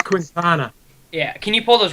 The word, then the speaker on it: Quintana: la cuenta in it's it's like la quinta well we're in america well yeah but okay so i'm with leone on that one it's quintana yeah can you pull